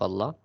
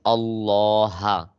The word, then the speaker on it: Allah: Okay, this is Allah. This is Allah. Okay, but if it's getting the kasra, if it's getting the kasra before the word of Allah, then it pronounced light.